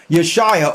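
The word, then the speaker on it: Yeshua: why is this important yo Shia or whom some say his name is Jesus even though there was no J's back then but for the sake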